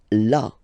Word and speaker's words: là: Then là. So remember you've got this accent, but well, you don't pronounce it. Okay, so it's là. Là.